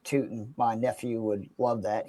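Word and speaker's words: Tuten: I just love that it's actually pronounced Tootin.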